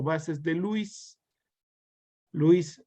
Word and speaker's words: Lewis: o bases de louis louis pronunciando inglés lewis pronunciar en español cientos estos van a